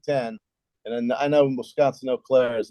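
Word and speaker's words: Eau Claire: pronounce it e Au CLA how do you pronounce that CLA CLA oair Wisconsin o'clair yes are building the largest indoor facility in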